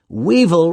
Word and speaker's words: weevil: like little cups weevil weevil rhymes with evil and that's what many